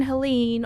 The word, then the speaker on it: Helene: attention to the news, the Hurricane Helene, or Helen, depending on how you want to pronounce it, was extremely devastating for the eastern seaboard, and parts of the southern United States.